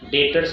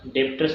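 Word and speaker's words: debtors: मग हे डेप्टर्स, actually डेटर्स असा उच्चार करायचा, डेप्टर्स जरी स्पेलिंग असलं तरी उच्चार करताना डेटर्स असा करायचा.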